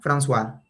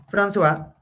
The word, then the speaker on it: François: Se escribe así, mira. Francois. Se pronuncia François. François Rabelais.